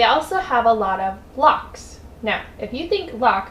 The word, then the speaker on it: Loch: They also have a lot of locks.